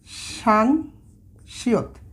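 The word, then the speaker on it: 쌍시옷: আচ্ছা, সাং বিয়পের পরে আমরা লিখব সাং শিয়ত। এই দুইটা শিয়ত পাশাপাশি যখন থাকে যুক্ত হয়ে তখন এটার উচ্চারণটা হচ্ছে সাং শিয়ত, সাংশিয়ত।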